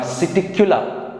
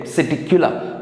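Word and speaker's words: Psittacula: P we have Siticula. P is silent there. Siticula, that is parrot.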